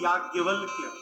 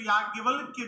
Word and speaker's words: याज्ञवल्क्य: इनकी वर्तनी लिखने आप जाइएगा, य में आ की मात्रा या, ज्ञ, व, आधा ल, आधा क, य। शुद्ध उच्चारण करने जाइएगा तो होगा याज्ञवल्क्य।